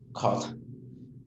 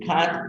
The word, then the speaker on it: cut: No se dice cat, no se dice cot y tampoco se dice cut. Es un sonido que en español no existe y por tanto exige práctica.